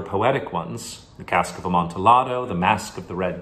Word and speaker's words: amontillado: the big question is pronounce it amontillado or amontillado it's a spanish wine so it's probably supposed to be a montearo but this is set in italy where two l's just make a longer l sound so i'm